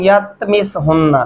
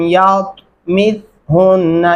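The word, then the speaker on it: يَطْمِثْهُنَّ: ہو رہی ہوتی ہے، لم یتمسہن، لم یتمس سین نہیں پڑھنا، یتتا نہیں پڑھنا آپ نے، اور یہ دھیان رکھنا ہے ان تلفظات کا۔ لم یتمسہن، یتمسہن انس قبلہم، قلقلہ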